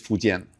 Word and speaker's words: Fujian: Fuken is actually the way the people of theirs pronounce it. They'll say fuken but in Mandarin it's fuen.